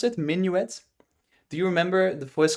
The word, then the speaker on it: minuet: That's how you pronounce it, minuet.